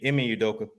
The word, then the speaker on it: Ime Udoka: Now, Udoka, how you pronounce his name again? Ime Udoka.